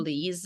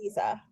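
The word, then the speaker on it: Liese: Chloe Lisa. Lisa. Yep. Okay. Oh, I was really off with that.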